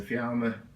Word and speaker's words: Fiamma: It's a Fiamma, that's how you pronounce it, 28 centimetre square vent.